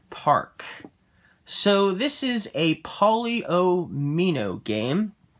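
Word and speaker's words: polyomino: so this is a polio mino game i sometimes i sometimes say it a different way but i'm pretty sure i pronounced it correctly a paulie oh me no game and you're going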